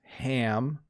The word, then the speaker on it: ham: it's a hem okay so notice the difference again you eat ham and you hem clothes it's a slightly different pronunciation you eat ham and